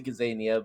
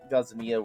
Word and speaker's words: Gazania: have what is that gazzania gazzania it's a gazania but gaza mia works as well i guess oh i will